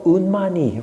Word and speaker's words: unmani: mind is the state called Manon mani or unmani remember unmani the three syllable Mantra of the crown chakra so unmani